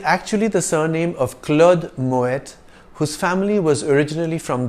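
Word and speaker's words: Moët: house in the world in French the letter at the end of a word is usually silent but Moet is a Dutch name in which the T at the end is sounded it is actually the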